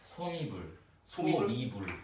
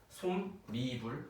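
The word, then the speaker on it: 솜이불: 있잖아요 요거요 발음이 뭘까요 소미 미불 그러니까 요거를 이제 보통 이제 사람들이 있잖아요 요거를 소미 이러죠 근데 사실은 요거는 이제 틀린 발음이라고 볼 수가 있어요 정확한 발음은 뭐냐 솜 솜 니불 리브이 니불 요렇게 니불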